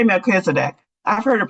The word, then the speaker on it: Melchizedek: I say Melchizedek. I've heard it pronounced otherwise, but I'll say Melchizedek.